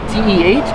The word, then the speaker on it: Teh: The tea is spelled T-E-H and the coffee is K-O-P-I. Teh and Kopi.